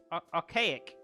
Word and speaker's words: archaic: got for today um it's pronounced RK ice archaic oh archaic got it